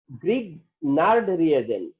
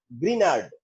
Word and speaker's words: Grignard: গ্রিগনার্ড reagent বলে, জি যদি silent word করো, সাইলেন্ট লেটার হয়, তাহলে হলো গিয়ে গ্রিনার্ড, তাহলে গ্রিগনার্ড বলো আর গ্রিনার্ড বলো, গ্রিনার্ড বা গ্রিগনার্ড রিয়েজেন্ট আর গ্রিগনার্ড রিয়েজেন্ট।